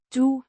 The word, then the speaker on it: du: pronoun noun meaning you pronounced do similar to the English do but with a slightly softer sound.